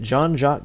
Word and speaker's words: Jean-Jacques: it clear that is how the name is pronounced all right just moseying alarm we've arrived at John jock Gibson's house all right let's get out this